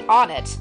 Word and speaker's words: Onett: okay but yeah the I think the official pronunciation of this town is supposed to be on it but that is a very weird pronunciation I like one it a lot better just because it it